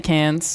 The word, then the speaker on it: Cairns: to where which had the sexiest beaches probably cans yeah you bet it did everywhere has the